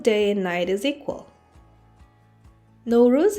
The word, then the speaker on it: Nooruz: and night is equal no ruse is pronounced differently in different central asian countries for example in kazakhstan it is pronounced as naurus in tajikistan and afghanistan navruz let's have a look